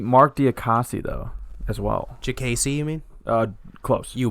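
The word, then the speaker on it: Diakiese: I thought it was Diakasi. Jacasey. Mark Diakasi. JKC. Mark Diakasi. JKC. Jacasey. With like a J. JKC. It's Jagacy. D-I-A. Listen, this is how it's pronounced. JKC.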